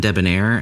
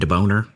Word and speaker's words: debonair: He would pronounce suave and debonair as suave and deboner.